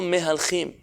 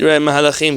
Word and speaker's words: מהלכים: לו מהלכים בין החיים, Noten lo mehalchim. You familiar with that word from Tanakh? אולי זה מהלכים? Mahalachim, am I saying it wrong? If we look up... כי מהלכים זה פועל. You're right, Mahalachim, thank you.